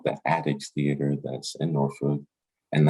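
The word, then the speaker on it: Attucks: he also designed a theater that's called the addicts theater that's in norfolk and that's spelled att ucks addicts theater and that's also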